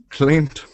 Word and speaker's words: cleaned: and remember the rule cled good yay your Italian mind wanted you to make it two syllables but you said no so you are correct hamit why don't you